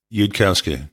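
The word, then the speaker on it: Yudkowsky: from Elia zarur I always say his last name wrong is it you'd hausky you'd Kowski yeah you'd Kowski one of his great quotes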